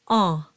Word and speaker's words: en: So right out of the gate, you have the nasalized sound en. And that is an sound where you let your soft palate drop a little bit and air will go through the nose and you get the nasal quality.